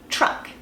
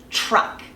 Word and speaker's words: truck: an R for example the word truck chuck truck it's like you're making that sound sure sure and you're pulling it pulling your tongue back into that sound truck truck so my tongue starts on that Ridge behind my teeth tip but it's like I'm pulling it back into that are so quickly that it just makes it chip truck okay another example is